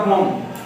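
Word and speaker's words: bomb: इस तरह बॉम्ब, बम नहीं पढ़ेंगे, यानी बॉम्ब नहीं पढ़ेंगे, बी साइलेंट होगा, बॉम्ब, ठीक है।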